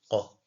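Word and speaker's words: قَ: Ensuite, là, on a le qa. Qa. Qa. Certains ont tendance à dire que, par exemple, pour la prononcer correctement, c'est comme si on t'étranglait.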